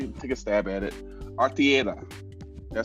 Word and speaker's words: Artieda: Artieda. Did I say it right? Really good. No, you did good. Artieda.